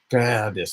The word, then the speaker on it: Gerdes: I say it like. Is that what you do, Peter? I sat next to a German businessman once, and I wrote down my name, and I said, how do you pronounce it? He said, Gerdes. Like, he rolled the R like in a way that I can't even pronounce my own name.